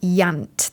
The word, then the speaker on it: Iant: His first novel is called Yant. That's spelled IANT, and it was released